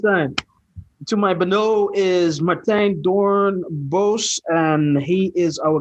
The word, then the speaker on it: Matthijs: I don't know, but when you pronounce it, always sounds like Martijn. So I'm not sure if you're saying Martijn or if it's just a weird pronunciation of Matthijs.